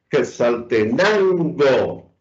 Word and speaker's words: Quetzaltenango: Entonces, las palabras llanas son aquellas cuya penúltima sílaba es la tónica. Ejemplos, Quetzaltenango. Ahí vemos que lo que está en rojo es la sílaba con mayor intensidad, con la sílaba tónica.